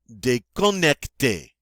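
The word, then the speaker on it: déconnecté: next day connect a day connect day and notice this isn't adjectives of course and we form the feminine by adding an e although it doesn't change the pronunciation did connect day and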